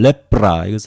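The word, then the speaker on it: λέπρα: 가지 단어가 사용됩니다 하늘 랩 프라이스 아직 붐 의 명사형 입니다 랩 프라 이렇게 발음 하구요 또 한 가지는 랩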